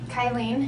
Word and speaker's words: Kylene: Kylen.